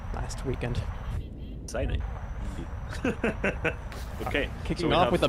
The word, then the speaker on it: Sinai: As we kick off into the match here on Sinai, as I learned how it's correctly pronounced last weekend. Sinai.